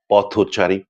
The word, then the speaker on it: পথচারী: যেমন ধরুন, পথচারী। এই শব্দটি যখন আলাদা করে আমরা উচ্চারণ করি তখন হয় পথ, কিন্তু একসঙ্গে যখন সমাসবদ্ধ হয় তখন আমরা উচ্চারণ করি পথচারী।